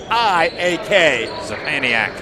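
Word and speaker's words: Sczepaniak: Sapaniak's name, by the way, is a load. It's spelled S-C-Z-E-P-A-N-I-A-K. Sapaniak. And he had the deflection there.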